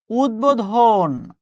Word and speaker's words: উদ্বোধন: উদ্বোধন, উদ্বোধন, সহজে যেন মনে থাকে। অর্থাৎ এই শব্দগুলো আপনি সবসময় এইভাবে উচ্চারণ করেন।